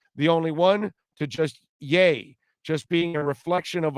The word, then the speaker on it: Ye: yes go ahead i i think it's jay like kanye that's i went on google and that's what they're saying i don't know it was a site that was saying how to pronounce it i wonder correct i don't know if it's 100 correct but they're saying it's yay like kanye just take the kind so it's yay so it's yay not ye okay well duke tomlinson